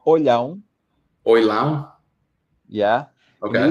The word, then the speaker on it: Olhão: It will be very difficult to you to pronounce the name. It's called Olhão.